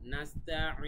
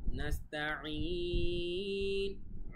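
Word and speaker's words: نَسْتَعِينُ: তারপরে নাস্তাঈন, নাস্তাঈন, আইন গলার ভেতর থেকে, তারপরে লাস্টে 3 আলিফ টান।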